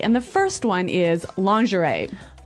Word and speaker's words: lingerie: And the first one is lingerie.